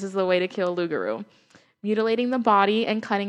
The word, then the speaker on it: loup-garou: thank you that's crazy no how do you pronounce it again loup-garou loup-garou so loup-garou yeah it's of loup-garou because you how much